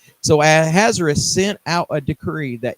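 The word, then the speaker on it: Ahasuerus: Xerxes at the time let me let me pronounce his name with a Hebrew tongue it's azerus I think so we'll use the Hebrew tongue Xerxes was his Persian name but the Jews called him azerus so azerus sent out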